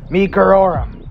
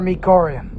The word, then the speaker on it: meekerorum: Siats, meekerorum, or meekerorum. Yeah, any way can be pronounced.